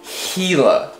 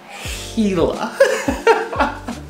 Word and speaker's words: Gila: armchair anglers quite perturbed gila it's not gila it's not gila it's not gila jula whatever it's pronounced hela so i deeply apologize